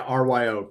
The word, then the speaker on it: Ryo: But it's Ryo. Yeah, Ryo.